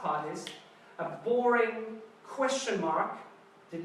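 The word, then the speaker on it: 妈: And it's pronounced ma.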